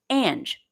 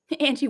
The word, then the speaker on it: Ange: Ange, the E is silent. Great. Thank you. Nancy Hansen writes, eat real food and be a real healthy person. Angie works too, though.